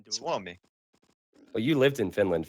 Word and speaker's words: Suomi: You butchered What, that. Suomi? It's What? Suomi. Suomi.